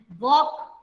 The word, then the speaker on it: walk: So same way we can write talk and walk. Talking and walking, all of you know. Talk and walk, L is silent.